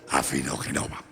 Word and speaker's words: Afinogenova: Lo pronuncié bien, Afinogenova.